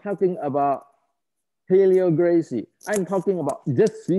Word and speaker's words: Gracie: We are not even talking about Helio Gracia. Is it Daniel? Is that true? Is that I pronounce right?